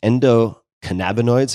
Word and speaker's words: endocannabinoids: and maybe you can tell me how to pronounce this Endo cannabinoids am I saying that correctly cannabinoids how do